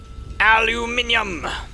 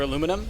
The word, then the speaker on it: aluminium: Aluminium! Because I know that this was something that came up in Rick's comments, there are 2 appropriate ways to pronounce aluminum. It's either aluminum or aluminium. Both are acceptable.